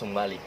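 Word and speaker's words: Jomalig: Strange as it sounds, the town's name is pronounced as Humalik, from the Tagalog word humalik, or kiss, which is said to be derived from the local folktale, a love story legend.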